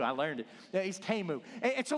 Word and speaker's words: Temu: Yeah, he's Temu.